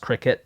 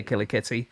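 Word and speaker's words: kilikiti: It's actually pronounced cricket, but it's spelled Killy Kitty, so most people would say Killer Kitty.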